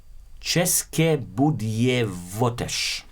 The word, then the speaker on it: České Budějovice: 2 trains have crashed in the city of Czech Republic near the city of České Budějovice, as we pronounce it.